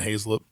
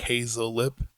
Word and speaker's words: Hazelip: I pronounce it Hazelip. Okay. Right. If I'm trying to tell somebody how to pronounce it and they look at me, I'm like Hazelip.